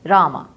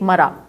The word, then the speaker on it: Rama: Poor thing, poor fellow, could not even pronounce it properly. And what did he speak? Mara. Instead of Ram, he is chanting Mara, Mara, Mara.